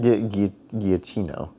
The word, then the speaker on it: Giacchino: You're laughing like you know how to actually pronounce it. Giacchino.